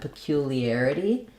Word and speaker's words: peculiarity: So again, we have our itty ending here. We have peculiar. The stress is on the air syllable, spelled with AR. So that has the air diphthong, and then we have our itty ending, flap T, lax I, tense E.